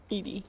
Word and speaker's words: Edie: Edie.